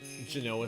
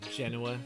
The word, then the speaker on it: Genoa: like go salami a nice uh Genoa salami or Genoa depending on how you want to pronounce it maybe a Hungarian